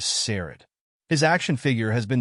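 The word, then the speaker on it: Saurod: in the movie and his name is pronounced by evil Lynn as sered his action figure has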